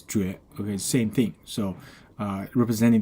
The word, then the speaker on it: 绝: Okay, so the pronunciation of the right part is 绝.